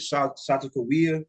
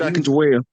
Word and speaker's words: Sacagawea: No, Ben York had a son with Shatakaweah. Is how you say her name. And Sacagawea.